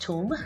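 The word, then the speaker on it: ثوم: off adding garlic first and the garlic is pronounced tomb in egyptian arabic so i am chopping up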